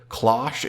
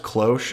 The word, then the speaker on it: cloche: lot of people in those videos pronounce it claw SHhhh it's pronounced cloche apparently thanks to a lot of different websites